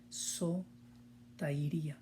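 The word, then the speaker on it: σωτηρία: Digo literalmente porque en cierta forma sí nos familiarizamos un poquito con esta nueva palabra, sotería, que en su pronunciación sería sotairía, sotairía. Y esto tiene que ver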